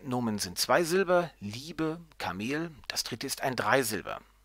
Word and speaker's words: Kamel: Im zweiten Fall wird die zweite Silbe betont, das heißt eben nicht Kamel, sondern Kamel.